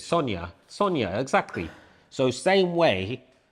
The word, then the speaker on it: Sonja: So you guys should understand it because in Europe when you say J it's not J it's a Y. Right. So uh like the name Sonia it's S O N J A. Yeah. That's how they spell it in Eastern Europe. Right. But they say it's not Sonja, it's Sonia.